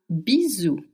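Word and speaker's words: bisou: Now, if you want to send someone a little kiss, a bizu, a bizu, it's spelled b i s o u. And s between two vowels in French makes the sound z.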